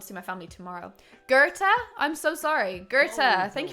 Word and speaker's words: Goethe: Goethe. It's Goeth.